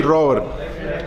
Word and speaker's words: Robert: It is not Robert, okay? Debate a wall. Listen to Luis actually pronouncing his name. Luis Robert.